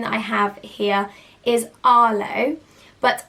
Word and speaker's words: Arlo: here is arlo but i would personally spell this differently to how you would so originally arlo would have been spelt a-r-l-o and i would spell it with a h i would have a-r-h-l-o i just feel like makes it a little bit more unique but has exactly the same way of saying it so this is a